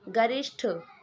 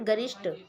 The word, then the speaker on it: गरिष्ठ: इनमें से सही स्पेलिंग आपको चूज़ करनी है। गरिष्ठ। ठीक है? नॉट गरिष्ट। गरिष्ठ।